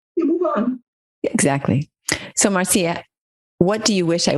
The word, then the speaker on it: Marcia: Most Americans say Marcia, but I'm from the Caribbean and say Marcia.